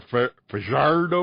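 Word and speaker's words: Fajardo: Cody Fardo apparently the proper pronunciation of his name is more fardo or something with more of a rolled R.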